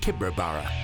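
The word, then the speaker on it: Tibooburra: The locals pronounce it Tibrabara.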